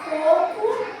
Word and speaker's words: coco: O primeiro co é a sílaba tônica, mais forte.